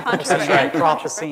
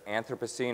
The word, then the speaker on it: Anthropocene: Anthropocene. Well, one of the burning debates is whether it's Anthropocene or Anthropocene, or as they say in England, Anthropocene. That's right.